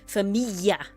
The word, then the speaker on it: famiglia: And in Italian, you have the noise GLI, right? GLI. That grouping of words that letters makes a Y noise. So it's famiglia with a Y. It's spelt famiglia, but it's famiglia with the y in there.